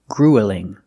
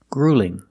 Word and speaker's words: grueling: going to do that we don't pronounce this word gruelling it's not gruelling it's grueling grueling the first vowel is a long ooh like f food and boot grew grueling grueling and